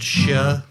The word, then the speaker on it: Xie: And in that one, XIE is pronounced Shia.